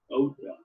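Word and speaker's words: Oythe: that town, and so O's or O-Y-T-H-E is pronounced Ota. It is the hometown of the Bruns, Bussy, Strilling, Foyne, Lammers, Meyer, and Tiemann families. This is the inside view of St. Maria Church at Oita.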